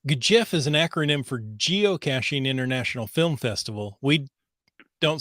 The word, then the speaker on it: geocaching: anyway it's it's the yes I agree that geocaching is that soft G not the Harga but the ja and um it's not Guild caching geocaching that sounds more Italian yeah